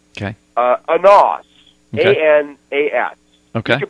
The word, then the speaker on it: Anas: A-N-A-S. Okay. You can pronounce that any way you want right.